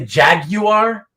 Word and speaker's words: Jaguar: Same with Jaguar. Jaguar. What about Jaguar? Jaguar. Some people say Jag you are.